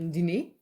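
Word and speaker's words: diner: We pronounce it more like French, so it's a dîner.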